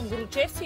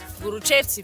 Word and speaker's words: Горочевци: Днес сме тук в село Горочевци или Горочевци, да слагам ударенията на правилните места, за да се качим на най-високия връх на Еловишка планина, който се нарича Плоча.